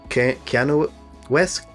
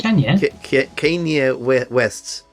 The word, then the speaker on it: Kanye West: Keanu West? What was his name? Kanye West.